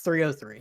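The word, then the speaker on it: 3OH!3: Is it pronounced 3-0 or is it just O? Or is it 303? 303. It's 303. Thank you.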